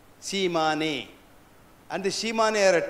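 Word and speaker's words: Tsimane: It's spelled as T-S-I-A-M-N-E, Shimane.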